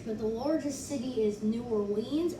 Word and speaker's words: New Orleans: the largest city is new orleans or new orleans as the people call it there how that actually sounds like it's like an echo of new orleans like nolan's nollens nolan's okay no one's